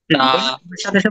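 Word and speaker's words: ثاء: হরফটাকে আমরা বলবো তা সাথে বলুন সবাই বলেন তা তিন নাম্বার বিষয়টা হচ্ছে এই যে হরফটা এই হরফটার নাম হচ্ছে সা অনেক নরম হবে সা বলুন সাটু জোরে বলতে হবে সাত এটা সা আমরা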